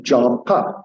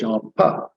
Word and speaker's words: Jhampa: And then for my name again, Jhampa, 2 syllables, Jhampa.